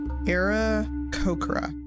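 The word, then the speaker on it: Aarakocra: me Google this era kokra is how you say it they have those in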